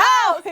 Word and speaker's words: Hal's: Hall's, kids. It's Hall's chips, No, okay? you're saying it wrong. It's No. Hal's. It's Hal's chips.